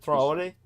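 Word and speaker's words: Traoré: Ibraim Ibrahim Trayori. Yeah. How do you pronounce it? Trayori.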